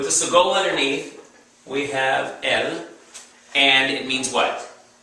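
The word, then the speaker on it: אל: underneath the Aleph, because the Aleph is silent until you give it sound, like a shofar is silent until you give it wind or breath.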